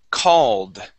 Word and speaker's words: called: First off, we have the word called. Okay, remember, we go straight to that D sound.